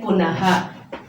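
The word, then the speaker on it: पुनः: then പുനഃ. ഈ ചിഹ്നം ചേർത്താൽ അവിടെ ഹ എന്നുള്ള ഒരു ഉച്ചാരണം കൂടെ ഒരു സൗണ്ട് കൂടെ കൊടുക്കണം.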